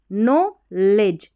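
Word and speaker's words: knowledge: के एन ओ डब्ल्यू नो लेज डी ई जी को डी डी जी ई को ज पढ़ेंगे के एन में के साइलेंट है नॉलेज नॉलेज एंड कै सी ए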